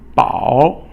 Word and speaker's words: 饱: 饱 is third tone.